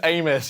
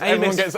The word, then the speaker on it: Amys: My last name's Amos. You're so close. Amos.